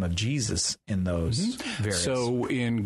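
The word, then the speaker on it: Ἰησοῦς: We tend to pronounce it as Z, which is why we say Jesus in English.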